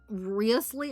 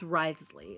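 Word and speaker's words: Wriothesley: Rio has a Rio has a I keep saying Riyley. Ryley. And I know the O is not pronounced. It's Ryley. It's just Risley. Just because he has a tie, that's why he's hot.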